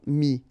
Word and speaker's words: mis: All right, and then es now, final s not pronounced, but still you need to write it. Mettre, for instance, E-W-T-R-E, will become mis, es.